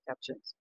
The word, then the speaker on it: capuchin: And we have Do you have capuchins? capuchins. Capuchins. Am I Capuchins.